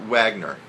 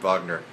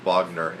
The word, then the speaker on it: Wagner: anyway um it's not Wagner so you're going to see Wagner when you when we're talking about Vagner but they pronounce it with a V Vagner and not vag vog